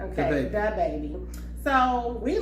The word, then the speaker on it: DaBaby: Using DaBaby as an example. I think that's how you say his name. I don't know if it's the or da. It's with D-A. Okay, DaBaby.